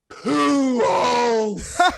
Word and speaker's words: Pujols: But Spanish, it is properly pronounced Pujols.